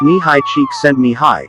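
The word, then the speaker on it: Csíkszentmihályi: of flow and focus mahali chicks and nihai pronounced knee high cheek send me high is a Hungarian psychologist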